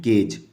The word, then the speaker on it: cage: जैसे इसको क्या पढ़ते हैं, इसका प्रोनाउंसिएशन है केज। ठीक है, केग नहीं, केज।